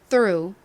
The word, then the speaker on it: through: 통화요 통과해요 의미에 적어보겠습니다 죠 뜨 소리 나는 th 그리고 리을 소리 나는 R 다음 우 소리 나는 U 그리고 끝에 무음인 gh 옵니다 발음 한 번 더 연습해 볼까요 Drive through 자 이렇게 쓰기 연습을